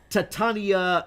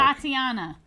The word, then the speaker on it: Tatiana: No, Titania Maslany. I had to look her name up because I have a hard time pronouncing it. Let me see it. Titania Maslany, because she plays She-Hulk. Tatiana.